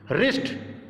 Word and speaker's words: wrist: कैसे निकालनी है देखिए, रिस्ट, WRIST, रिस्ट, इसे वरिष्ठ नहीं पढ़ेंगे, ये गलती ना करना है आपको, क्योंकि बहुत सारे बच्चे गलती करते हैं, इसको वरिष्ठ पढ़ देते हैं।